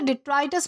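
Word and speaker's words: detritus: दोस्तों इसे डिट्राइटस pronounce किया जाता है जिसका मतलब होता है अवशेष यानी कि टूटे फूटे टुकड़े या फिर मलबा।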